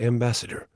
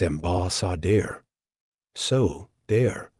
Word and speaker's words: ambassador: spelled with an a the actual sound isn't Ambassador It's ambas s so dare a dare B dare